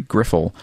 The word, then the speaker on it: Griffle: From your Northwoods furry, Griffle. P.S. The I is short. You say it like Griffin.